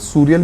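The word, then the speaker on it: surreal: ठीक है, फिर इसके बाद हमारा वर्ड लिखा है, फिर इसके दो प्रोनाउंसिएशन होते हैं, सूरियल भी बोलते हैं और इसको सरियल भी बोलते हैं, बट I would request you to pronounce it सरियल।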